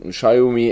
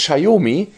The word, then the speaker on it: Xiaomi: die sich beschwert hat über unsere Aussprache von Xiaomi. Dieses Xiaomi ist ganz offiziell von Xiaomi selbst ins Leben gerufen worden für Europa und Deutschland. Weil sie sagen, dieses Xiaomi, wie es in China wirklich ausgesprochen wird, kann keiner.